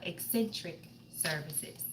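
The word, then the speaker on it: Xsintrik Services: your messages for today and we want to pronounce the name of channel eccentric services is the name of a channel that's how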